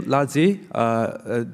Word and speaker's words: LaZi: The name LaZi, did I pronunciation right?